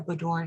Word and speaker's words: boudoir: This is for a boudoir session.